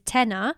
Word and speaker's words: Tena: Tena, which is spelled T-E-N-A, is a bigger kind of mini city.